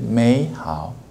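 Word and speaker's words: 美好: The first third tone will change as a second tone will change 美好 This is a natural way of native speaker speaking.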